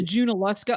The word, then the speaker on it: Junaluska: Waynesville um and okay I've always wanted to know how to pronounce that I've always called it yoa so it's junaluska okay yeah uh so